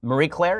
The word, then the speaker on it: Marie Claire: So There's an article that's just astonishingly great in its stupidity from Marie Claire. Is that how it's pronounced?